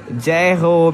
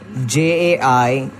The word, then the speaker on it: Jai Ho: Jai-ho means like hooray, yeah. Like you all say right. Hooray, hip hip hooray, something like that. All right. So how would you pronounce it? J-A-I-H-O.